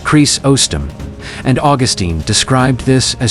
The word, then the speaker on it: Chrysostom: Early church leaders, like John Chrysostom, pronounced Chris-ostom, and Augustine described this as straining out a gnat but swallowing a camel.